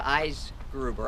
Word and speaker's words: Eisgruber: So I'm going to introduce Andrea Eisgruber. I asked her how to pronounce her name.